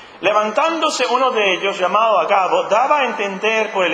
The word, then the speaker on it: Agabo: un profeta tenía este don agabo así se pronuncia agabo no tiene no puede ser agabo o sí